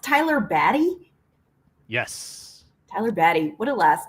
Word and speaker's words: Tyler Batty: Is it pronounced Tyler Batty? Yes. Tyler Batty.